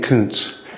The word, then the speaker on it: Coons: It's kind of like pizza. There's a T in there, but you don't really see it. There's a T in couns.